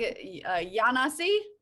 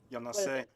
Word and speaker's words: Yanase: And I think Yanasi? Close. Yanase. Yanase. Oh, it's like Amasale, right? Except Yanase.